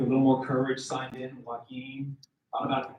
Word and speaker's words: Joaquin: Rock said to me, isn't your name Joaquin? And I said, no, it's not Joaquin. It's pronounced Joaquin.